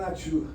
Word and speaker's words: nature: o famoso Nature Nature Nature que se escreve mas como é francês se fala Nature Brut erou em francês